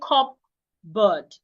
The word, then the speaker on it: cupboard: So I shouldn't say cupboard. The P should not be heard.